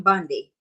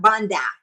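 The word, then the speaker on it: Bondi: Her name is Pam Bundy. Bundy, not Bundy. Bundy.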